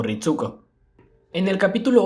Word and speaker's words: Ritsuko: Pero en ese mismo doblaje el nombre de Ritsuko sí se pronuncia con la U, como Ritsuko.